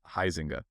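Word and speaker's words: Huizenga: seemed to call him Huizinga. So Dr. Huizinga or Huizinga, let us know how you pronounce your name. I'm still super confused there because how we pronounce it being Dutch is Huizinga.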